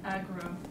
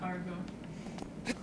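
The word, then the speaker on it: Agro: Saying that it's aggro, not Argo.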